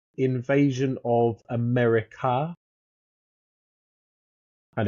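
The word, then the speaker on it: Amerika: Uh, Q3, you've got the Rift War volume 2, Invasion of America, and it's I think it's pronounced like that because it's a M E R I K A.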